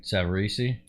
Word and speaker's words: Savarese: Right, Savarese? Savarese is good. You don't need to pronounce that last E on there.